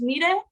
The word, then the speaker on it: Mire: Her name is Mire. It's spelled like May, but it's like pronounced Mire.